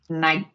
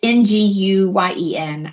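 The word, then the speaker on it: Nguyen: It's like naen. Naen. It's ng guen.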